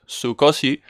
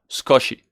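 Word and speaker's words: 少し: Sometimes the u of su is not pronounced too much. So instead of sukoshi, it's like skoshi, skoshi.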